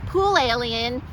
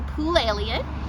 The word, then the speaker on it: Poulalion: my name is Poole alien you probably still can't remember how to pronounce it so I'll give you the trick think of an alien jumping in a pool that's pool Elliott now why do I